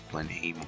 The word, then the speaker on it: Blenheim: are in New Zealand and we are in Blenheim Blenheim or how we pronounce this blend even Blenheim and when we when you're here usually